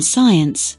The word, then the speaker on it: science: talk listen not o right wrong hours guess silent letters first C in science l in Talk t in listen K in